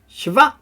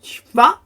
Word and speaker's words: shva: the name there, it would be shava, shava. It's a very short E sound then. Or it's just shva.